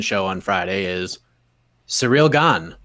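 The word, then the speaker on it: Gane: this man's name because we've heard gone we've heard gain we've heard ghana john anak on friday yesterday john anak on friday said ghana on saturday he said gone so we're like okay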